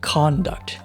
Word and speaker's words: conduct: Is it conDUCT or is it CONduct? Which syllable should be stressed? I'm gonna check. 你要去搜一下。 Oh, the verb is conDUCT and the noun is CONduct.